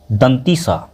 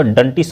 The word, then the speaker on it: दंत स: इस तरह से उसको लेकिन इसका सही उच्चारण हो गया दंत स दंत सा कुछ-कुछ बच्चे तो डंटी स बोलते हैं है ना तो